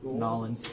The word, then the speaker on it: New Orleans: New Orleans. Did I say it right? Nolans. Yeah, I think you're right.